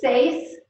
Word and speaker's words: seis: Any questions about the pronunciation of these numbers? Okay, I'm going on. 6 through 10. Okay. 6 is seis.